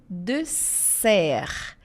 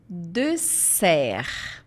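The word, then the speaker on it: dessert: E sobremesa é le de ser. L de ser. Podem fazer esse som de s de ser, porque se fizer deser vira deserto, tá? Palavras muito próximas na questão da pronúncia.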